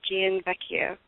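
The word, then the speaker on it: Gianvecchio: um this is gain vecchio from American reptile jf Maya my last name is pronounced Jian Vecchio thanks predictable so I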